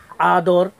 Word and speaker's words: আদর: এভাবে আমরা বলতে পারি আদর, বানান উচ্চারণ হবে আদর।